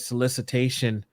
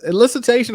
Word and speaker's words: elicitation: I think you said solicitation project. Is that what, did I say it correctly? Solicitation? It was elicitation or solicitation? Elicitation. Okay. Elicitation.